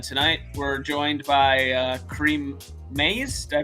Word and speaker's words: Kareem Maize: anarchism episode and tonight we're joined by uh creem ma did I pronounce that right yes you did all right